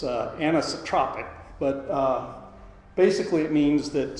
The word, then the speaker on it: anisotropic: properties such as porosity anestrophe anyone familiar with this chemical term i don't pronounce it correctly it's anisotropic but basically it means